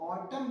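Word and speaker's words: autumn: यहाँ पे ध्यान रखिए एन जो है उसका प्रोनाउंसिएशन नहीं किया गया है, सिर्फ ऑटम वर्ड दिया गया है, ओनली एंड ओनली ऑटम।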